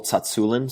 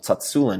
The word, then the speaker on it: Tsatsouline: Starting Strength, or for simplicity's sake, I think a lot of the protocols that Pavel Tsatsouline, some people say his name Tsatsoulin, but it's Pavel Tsatsouline who really popularized kettlebells in the United States.